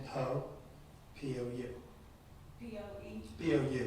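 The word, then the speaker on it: Pou: Last name Poe, P-O-U. P-O-E, P-O-U. It sounds like P-O-E, but it's spelled P-O-U.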